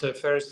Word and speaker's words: Ferris: That's pronounced Ferris like the wheel, like Ferris wheel.